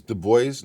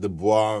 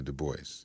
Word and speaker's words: Du Bois: is Du Bois, not Du Bois, right? Because people, depending on who you talk to, they try to get fancy with the I name. know he pronounced it the anglicized way, Du Bois.